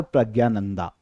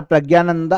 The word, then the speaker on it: प्रज्ञानंदा: और यह है आर प्रज्ञानंदा। आर प्रज्ञानंदा, Hindi belt में इनको आर प्रज्ञानंद भी पुकारा जाता है और इनके नाम का प्रोनाउंसिएशन देखें तो आर प्रज्ञानंदा भी इनका प्रोनाउंसिएशन नाम का निकलता है।